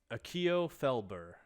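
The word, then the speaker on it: Akio Felbur: the name what's your name the name is akio felber yep you're gonna have to pronounce that a couple times akio akio felber f-e-l-b-u-r i got it right i got close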